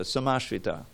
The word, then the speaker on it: samashrita: So those who take complete shelter, samashrita, every syllable in Sanskrit is important. There's ashrita and there's samashrita. Sam means complete, like sankirtan is total kirtan, right?